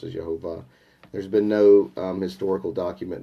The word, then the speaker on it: Jehovah: that do say that the correct pronunciation of yochay bhave is Jehovah in fact it was